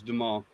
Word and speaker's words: Dumas: I think it was Dumas. Yeah, well, that's unusual. Normally they use the full French name. It's Dumas. Okay, from yes, there. We're making like a U sound at the end.